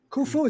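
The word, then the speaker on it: Khufu: Going back to ancient Egypt when Prince Kufu is that how you pronounce his name?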